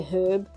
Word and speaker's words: herb: is the fact that Americans say herb and they don't pronounce the h and I don't understand